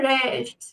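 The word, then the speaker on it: rechts: রেস্ট নাক রেস্ট okay ace টা খুব হালকা করে উচ্চারণ হবে রেস্ট এরপর আসছে টু দ্যা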